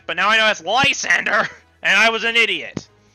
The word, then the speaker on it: Lysander: his name correctly because i kept calling him lisandra people could complain about that but now i know that's lysander and i was an idiot uh anyways you